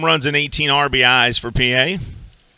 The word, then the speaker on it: Pie: 250 batting average, 6 home runs and 18 RBIs for P.A. The name P.A. is spelled P-I-E, like pie.